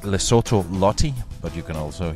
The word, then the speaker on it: Lesotho: so which is it well it's lesotho even though it's spelled with an o in the middle but i didn't know